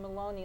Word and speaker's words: Maloney: Am I pronouncing her name correctly? Yes, It's Maloney?